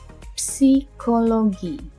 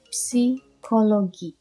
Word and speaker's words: Psikologi: Psikologi. You pronounce both the P and the S. No silent letters. Psikologi.